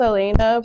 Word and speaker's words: Alana: It is pronounced Elena, but you can just look up as the traditional Alana and you'll find me.